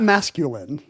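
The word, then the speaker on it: Maskelyne: right there Jasper Mas so Jasper Mas not masculine Jasper masculine oh mascul and it's spelled even cooler m a s k l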